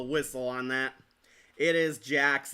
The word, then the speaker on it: Jax: It's Jax, not Jack. Spelled with an X, not a CK. Kind of like Mortal Kombat's Jax.